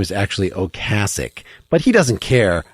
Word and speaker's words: Ocasek: think about Rick Ocasek, whose name is actually Ocasek. But he doesn't care how you pronounce it.